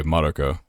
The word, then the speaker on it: Madoka: But yeah, it would be because the MA would be Ma, and then the DO. Yep. Ma Do, and then Ka, like for the KA.